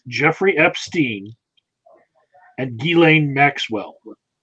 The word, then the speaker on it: Ghislaine: It's Jeffrey Epstein and Ghislaine Maxwell. It's not like Paul was pronouncing it Ghislaine, although I can understand that might be a porn name for somebody going forward.